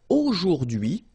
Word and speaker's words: aujourd'hui: H is not pronounced, so you only get this dui thing.